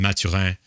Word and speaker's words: Mathurin: And Mathurin, their rookie, I pronounce it in French because he's from Montreal, as am I, but unbelievable.